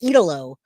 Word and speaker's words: Italo: Jay, it's pronounced Italo. Italo.